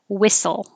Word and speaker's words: whistle: together wrist watch whistle the the h is not necessary and the t is not necessary so it's really just whistle whistle similar similar although